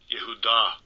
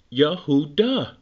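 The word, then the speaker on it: Yehudah: deep now watch this let's listen to how he pronounced this one H 3063 Yahoo da yahoo duh he is saying the correct pronunciation Yahoo duh you take the duh off you got a yahoo uh so it's it's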